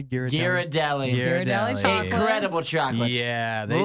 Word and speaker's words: Ghirardelli: number two though the Ghirardelli chocolate Hearts is how you say Garrett Deli Ghirardelli's incredible chocolate yeah